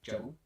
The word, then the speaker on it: GRBL: Which will be pronounced as Gerbil, Gerbil, Actually, no, I won't.